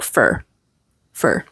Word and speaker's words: for: for for coffee and notice that for in this sentence kind of is pronounced like f f want to go for